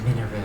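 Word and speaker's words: Mineru: is minu I am the sage of spirits minu that's how you pronounce it I am happy you have arrived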